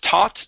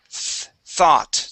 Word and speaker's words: thought: to the word thought instead of taught Tyler th thought try that one more